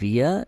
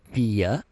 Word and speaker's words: wir: They are written the same way, but when you speak them out, the I in wir is longer as the I in wie. So wir and then wie.